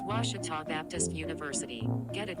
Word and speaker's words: Ouachita: oh a cheetah oh back in texas everybody pronounces it wichita but really it's ouachita washington washington how would you pronounce it it's washita baptist university get it